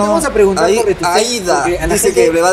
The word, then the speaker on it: Aída: No soy Aida, soy Aida.